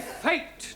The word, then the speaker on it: fate: s ah good but if we had an e to the end of fat then what do we have fatty no Giovani fate now does anybody know